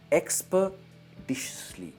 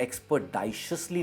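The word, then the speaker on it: expeditiously: ये है एक्सपर्डिशियसली एंड नॉट एक्सपर्डाइशियसली नहीं कहेंगे, एक्सपर्डिशियसली।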